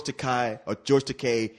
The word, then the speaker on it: Takei: It's Takei. Look, rhymes with toupee.